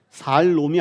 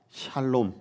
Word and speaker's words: 샬롬: 하는 것입니다 많이 들어보셨죠 샬롬 발음 똑바로 하셔야 합니다 샬 살 놈이 아니에요 살롬이 아니라 샬롬 자 헬라어 신약은 헬라어로